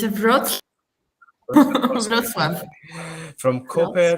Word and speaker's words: Wrocław: Okay, from Wroclaw. Is that how you say it, Natalia? It's a Wrocław.